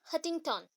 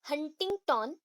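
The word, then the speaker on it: Huntington: हटिंगटन, that is हंटिंगटन, actually होता है हंटिंगटन, उसको हम फटाफट बोलते तो हटिंगटन हो जाता है, हंटिंगटन। ठीक है, एन थोड़ा सा प्रोनाउंस आप करोगे, जो हल्का सा करोगे यहाँ पे, HUN वाला वो एन, ठीक है, हंटिंगटन, उसको फटाफट करेंगे हटिंगटन।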